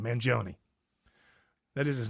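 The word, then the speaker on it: Mangione: Manon, that is his name, right? Luigi Manion.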